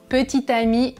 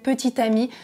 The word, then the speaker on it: petit ami: dernier c'est petit ami petit ami et petites amies même prononciation petit ami petite amie mais dans tous les